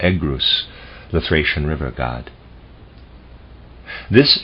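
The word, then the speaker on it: Oeagrus: try and pronounce that Oh egg ruse Oh II a G R Us or egg ruse the Thracian river god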